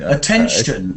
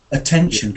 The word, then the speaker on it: attention: I mean Attention. Look at that in the text. Lawrence has got one. Attention. Can you hear it?